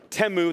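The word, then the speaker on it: Temu: They aren't afraid to order chief stuff from Teu. That's actually how it's pronounced.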